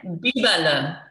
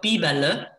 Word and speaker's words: Biberle: So Biberle, Biberle, Biberle. And the le at the end of it sort of indicates that it comes from Swabia, or a state in Southern Germany, a region in Southern Germany.